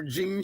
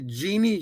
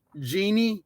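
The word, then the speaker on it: Jeanne: clarify it is actually jeannie it's j e a n n e and it's pronounced genie not gene so there there's a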